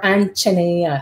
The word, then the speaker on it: Anjaneya: Pillai has the last call for the installation of Golden Ganesha and Ganesha Anjaneya, or Anjaneya, as Dr. Pillai pronounces it.